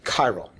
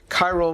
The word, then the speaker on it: chiral: to be chiral uh it's a ch but it's pronounced like a hard c chiral chiral means handedness hand or